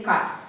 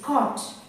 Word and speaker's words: caught: Many people say cut. It's not cut, it's caught.